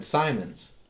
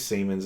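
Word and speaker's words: Siemens: company because I mean it could have been Simons you know or cens or something sure and they were like it's Seaman's industry and I went oh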